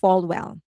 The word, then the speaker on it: Falwell: So, it's they're kind of like saying, Falwell, it is pronounced Falwell.